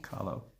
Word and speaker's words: Kahlo: Kahlo.